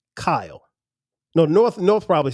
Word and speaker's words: Kyle: So how do you pronounce my name? Kyle.